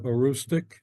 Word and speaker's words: Aroostook: But I was going to ask, does the region itself that you live in, the part of Aroostook County or Aroostook, is that how you Mhm. would pronounce it?